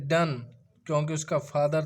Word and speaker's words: Donne: Name था उसका pronounce as if spelled डन, क्योंकि उसका फादर था आयरन मॉन्गर था और उसकी मदर थी वो डॉटर ऑफ जॉन हेवुड की थी।